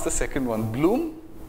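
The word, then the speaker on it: Blume: So the model that I'm going to describe is, so how do you pronounce the second one? Bloom? Bloom is fine, and how, Capel, or how do you pronounce the next person?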